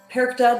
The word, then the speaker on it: Perchta: Now, Perchta, it is pronounced Perchta, but written as Perchta, so you may hear it both ways.